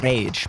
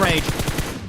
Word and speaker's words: Rage: Rage, I was like, there's two R's, so I'm going to say it like the Spanish way, Rage. But no, that's not how he goes, RH. So I have to get used to that one. It's not a Spanish team after all.